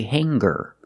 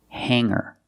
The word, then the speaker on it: hanger: In both of these words, the G is not pronounced with a hard G sound. We don't say singer and we don't say hanger. We say singer and hanger.